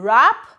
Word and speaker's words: wrap: Some words have initial consonants which are not pronounced, like H in honest, W in wrap, K in knock.